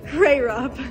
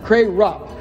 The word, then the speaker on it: Krarup: Now give us the official pronunciation. Krarup. Krarup.